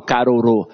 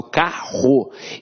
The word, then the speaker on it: carro: tenho um diga vou eu não falo caro eu falo carro então esses dois erres aqui tem um som de r forte então apesar de ter